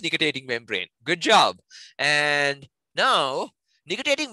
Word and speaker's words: nictitating membrane: I have no clue if I can pronounce this correctly, but nictitating membrane? Actually, you pronounce it right. It is nictitating membrane.